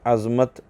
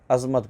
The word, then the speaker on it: عظمت: کیونکہ غلط العام فصیح، جیسے اردو میں عظمت کی غا، برکت کی را اور رمضان کی میم پر زبر ہے، ٹھیک ہے، مگر لوگ ان تینوں یعنی غا، را اور میم کو ساکن کر کے پڑھتے ہیں، عظمت پڑھتے ہیں، رمضان پڑھتے ہیں، ٹھیک ہے، اور برکت پڑھتے ہیں، برکت، حالانکہ عظمت ہے، برکت ہے اور رمضان ہے، ٹھیک ہے، لیکن لوگ